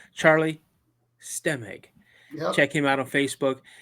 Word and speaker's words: Stemig: see Charlie in it how do you say your last name again steg stem EG there you go Charlie stemig check him out on